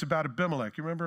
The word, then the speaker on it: Abimelech: didn't and it's about abimelech you remember abimelech or Abby melek depending on how you want to pronounce it or you could put